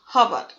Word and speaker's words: hour: Our, hour. Our, belonging to the speaker and one or more other person. We both got our hair cut at the same place. Our means hours. Hour. H is silent here.